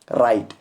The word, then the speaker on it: write: और दूसरा राइट, WRITE, आप यहाँ पर देखो यहाँ पर भी W और R मिले हुए हैं यानी कॉम्बिनेशन में है, यहाँ पर भी W साइलेंट रहेगा, इसको पढ़ेंगे हम सिंपली राइट।